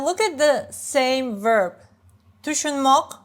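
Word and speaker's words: tushunmoq: Tushunmok, which I read like chunmok, because in some regions, especially in the capital, it's shorter, chunmok, right? It's tushunmok, 3 syllables, but sounds like chunmok, 2 syllables.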